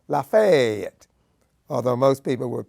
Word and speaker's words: Lafayette: Miss and the surrounding County which they call Lafayette although most people would pronounce it Lafayette as in French and it was the first